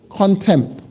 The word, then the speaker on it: contempt: spell content um amelia contempt content c-o-n t-e-m-p t you got it you got it right i was trying to see if you could pick up the silent letter there there is a silent